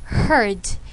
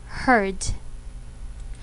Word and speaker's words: heard: with the word hear the past simple tense is heard even though the spelling is almost the same just add d the pronunciation is different again it should be here heard so students once again